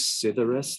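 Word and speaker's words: Psithyrus: distinguish the cuckoo bumblebees also known as sidoris this word starting with a silent p it will help us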